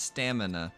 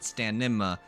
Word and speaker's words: stamina: say it like uh stamina is pronounced stamina not stanima and that's just called